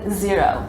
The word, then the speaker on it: Xero: bookkeeping is QuickBooks and Xero spelled with an X my favorite and I